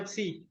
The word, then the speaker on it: psi: Ya, cara bacanya psi.